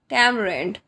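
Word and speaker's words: tamarind: में कहते हैं टमर टमर यहां पर ए प्रोनाउंस नहीं होगा टमर इमली शिमला मिर्च को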